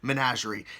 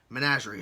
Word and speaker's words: Menagerie: saying it but the the most popular one was managerie so I'm hoping that's right managerie I'm hoping that sounds